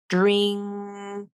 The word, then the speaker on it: drink: the spelling it's spelled drink is spelled with the letter N but that is pronounced like an NG so those are two